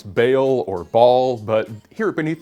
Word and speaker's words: Ba'al: final consonant is o so the pronunciation of ba'al is closer to the original hebrew than either baal or bal which either change the vowel sounds or smoosh them together and drop the middle consonant now when this word